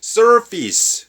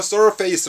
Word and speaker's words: surface: 빠진 상태면 페이스가 되죠 앞에 써 라는 접두사가 들어가면 써피스 그렇죠 쏠 페이스 라고 발음하지 마세요 짜 언더 이 개념은